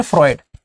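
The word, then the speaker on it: Freud: नाम है उनका सिगमंड फ्रॉयड। सिगमंड फ्रॉयड नाम है, लिखते हैं इसको EUD है, कई लोग फ्रूड पढ़ते हैं पर वो गलत प्रोनाउंसिएशन है। इट is called as Sigmund फ्रॉयड।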